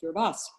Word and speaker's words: Kiribati: may know as kiribati and we've learned is pronounced gerbas um paul is legendary in his work at